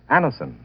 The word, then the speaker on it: Anacin: You can get Anison at any drug counter.